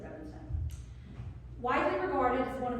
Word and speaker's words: Rubinstein: I would have said Rubinstein, but they said Rubinstein.